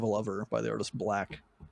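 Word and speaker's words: 6LACK: It's 6 LACK. Okay. It's just pronounced Black.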